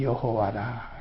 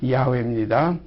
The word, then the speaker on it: 야훼: 이 스스로 계신 이 우리 하나님 아버지의 그 전함은 여기 기록된 대로 나는 여호와라. 여호와라는 그런 전함을 가지고 계십니다. 그래서 우리 하나님, 우리 아버지의 전함은 여호와라. 이것을 원 발음으로 하면 야훼입니다.